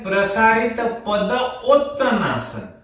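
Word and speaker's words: Prasarita Padottanasana: Pronounced as prasarit pada uttanasan.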